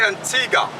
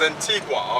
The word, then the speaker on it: Antigua: Antiga and baruda actually we say Antiga but the uh correct pronunciation is Antigua okay Antigua okay but